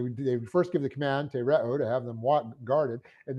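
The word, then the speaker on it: τηρέω: To get our verb, we have the present active infinitive of the verb tereo. Tereo, T long E, R E, long O.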